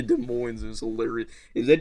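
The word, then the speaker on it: Des Moines: Oh, I called it Desmaness. Desmin. Okay. I was like 11 and I I called it that in front of my mom and that's when I found out like how to actually say it.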